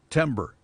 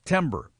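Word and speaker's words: Timbre: It's called Timber, but it's spelled T I M B R E. Timber. Discover your music scene. It's about local music. It's Timber, a location-based band discovery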